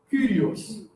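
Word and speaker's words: κύριος: Se pronuncia Kyrios, tá? Porque é um Y. Kyrios, tá? Como se fosse em francês esse Y. Ou como se fosse, né, em Guarani, o Y do Guarani, né?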